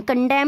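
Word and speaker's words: condemn: में नेक्स्ट है कंडेम कंडेम में देखिए में क्या है एन साइलेंट होता है निंदा करना कंडेम यानी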